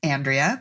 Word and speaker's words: Andrea: you do okay Andrea is my name pronounced Andrea but I do love when Miriam pronounces it